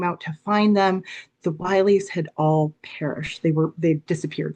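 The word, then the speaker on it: Willey: That disaster was the Wiley family disaster. Some people pronounce it the Willie family, but you might be familiar with this.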